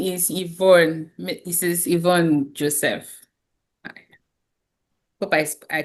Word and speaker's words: Ivonne: This is Ivonne Joseph. Hope I I pronounced your name right cuz I had that wrong with No problem.